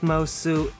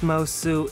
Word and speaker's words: Moço: my name is miss mosu my drag name is essentially my last name but the portuguese pronunciation translates to miss boy miss mosu is fashion and elegance